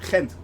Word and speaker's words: Ghent: And yes, it is how you pronounce it. Ghent, basically.